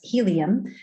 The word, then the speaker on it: Healium: VR App Store and helium is spelled h EA L IU M like healing but helium and um we have